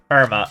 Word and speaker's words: Irma: Irma, okay. So that's how it's meant to be pronounced.